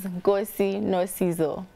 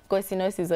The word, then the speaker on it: Nkosie no Sizo: My name is Nkosie no Sizo. Nkosie no Sizo is my first name. is my surname. All right, so Nkosie no Sizo are two words.